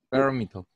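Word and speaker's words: parameter: 좀 영어처럼 발음하면 파라미터. 파라미터. 예, 두 번째 액센트가 있는 거예요.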